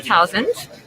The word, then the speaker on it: Tausend: it so i'm thousands um kudos i'm getting my last name correct rhymes with thousands the easiest way to say it my german colleagues have